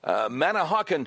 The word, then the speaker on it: Manahawkin: Let's go to Ryan, listening on WABC from, I hope I'm saying this right, Manahawkin, New Jersey.